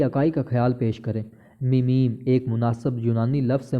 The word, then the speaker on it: meme: میموری یا فرانسیسی لفظ میم سے متعلق سمجھا جا سکتا ہے۔ لفظ کریم کے ہم قافیہ کی طرح اس کا تلفظ ہوگا۔ میمز کی مثالیں ہیں